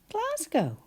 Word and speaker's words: Glasgow: about and that is Glasgow. How many syllables class go? G A and you're quite right. It does sound like Z, but we write an S and then G O.